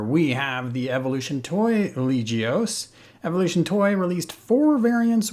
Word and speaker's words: Legioss: in genesis climber mospita it's pronounced legios but that sounds awkward to my english speaking tongue i know some people prefer legis and moss speeda but if you're not